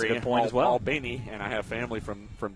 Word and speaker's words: Albany: Albany, and I have family from down there, so I have to say it right.